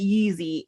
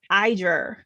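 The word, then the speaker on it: Yizhi: I was pronouncing it Yeezy. I was like, he was Kanye West up in this piece. No, it's Iger. Close to that. So the Y is an I sound.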